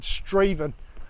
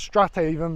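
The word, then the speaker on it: Strathaven: um Sat Nav Direction said straven I thought it was strata even but it's uh obviously Scottish pronunciation is slightly different okay we're back and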